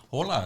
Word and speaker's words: hola: your Harry Heritage there hola exactly yeah Oliver yeah it's spelled with h though but we don't pronounce the h oh I write it